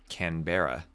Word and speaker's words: Canberra: As as much as the map looks like it should be spell, it should be pronounced Canberra.